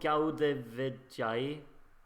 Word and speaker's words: Eurovizija: Anyway, song number 6 is called Eurovizija. Yes, that's exactly how you're supposed to pronounce it.